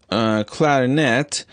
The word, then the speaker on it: clarinet: one syllable in one sentence and on another syllable in another sentence consider the word clarinet in this sentence he had a clarinet solo